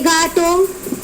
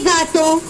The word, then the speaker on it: gâteaux: Gâteau, des gâteaux, only pronunciation of the article are changed, okay. Otherwise pronunciation of the noun remains same.